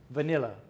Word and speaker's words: vanilla: Vainilla, but in English it's vanilla.